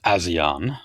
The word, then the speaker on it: ASEAN: single Irishman yeah I I do believe it is uh pronounced aan that's how I've heard it pronounced on the news anyway um and no the